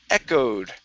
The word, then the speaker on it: echoed: Next up is the word echoed. Instead of echoed, this is a short E sound.